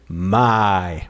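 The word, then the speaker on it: mein: and these two letters you don't pronounce them like in English you don't say ar e I know you just say my my like this my my my my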